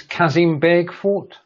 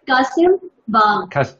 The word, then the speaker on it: Kasim Bagh: This is Kazim Beg Fort. Yes. Yes. How is my And how is Kasim Bagh. It's said Kasim Bagh.